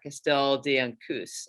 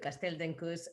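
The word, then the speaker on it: Castell d'Encus: the early people at castell diankus and again please correct my pronunciation here that's uh that's totally good castell dencous uh yeah so what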